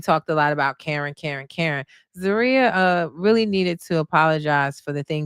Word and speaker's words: Zaria: Now, I did tell you guys, I feel like Zaria, keep saying it wrong, it's Zaria, was very level headed.